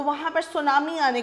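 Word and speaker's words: tsunami: इसके अंदर पीस है वह साइलेंट होता है तो हम इसको सुनामी पड़ते हैं फाइन यह आपका जापानीज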